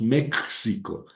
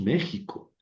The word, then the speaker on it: México: En cambio, si ponemos la X en México, no decimos México, decimos México. Ahí suena como J.